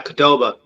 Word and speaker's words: Qdoba: Okay, one Chipotle, and the other one I'm not sure to pronounce it. Is it Qdoba? Yeah, Qdoba.